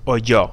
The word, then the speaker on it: oyó: It's pronounced oyó, so it's spelled like it's pronounced with the Y.